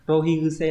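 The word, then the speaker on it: 浪費癖: Đây là chữ kuse, bình thường nó đứng một mình đọc là kuse là cái thói, thì đây ghép nó sẽ biến âm thành guse. Rohi guse là kiểu như là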